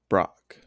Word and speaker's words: Broc: It's 4 letters, and it's one syllable.